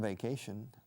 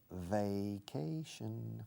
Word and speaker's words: vacation: I went on vacation. Vacation. Fijaos en la pronunciación. Empieza primero por V, ¿eh? V inglesa, no española.